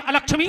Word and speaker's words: अलक्ष्मी: को नाश कर दे, जबकि शुद्ध उच्चारण है अलक्ष्मी नाशाम में हम, है ना चाची? अलक्ष्मी, हमारी अलक्ष्मी का नाश करो, लक्ष्मी स्थिर करो।